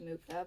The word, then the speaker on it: Mucha: I'm pretty sure it's pronounced Mucha, but I've heard it both ways.